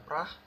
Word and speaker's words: Praha: Uh, Terus juga Celtic lawan Bodo Glimt, Sparta Praha Partizan, Fenerbahce Slavia Prah. Dan bacanya Prah ya, bukan Praha.